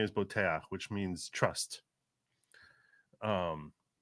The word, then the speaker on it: Boteach: inter he actually is pretty famous it's actually pronounced Bak like his original name is Bak which means trust um it's a very Israeli